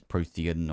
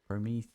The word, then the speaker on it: Prometheum: I mean, we can take this right here and try and make some of this Prothean or whatever it is. Promethean. Ah, Prometheum. Okay, there's an M on the end.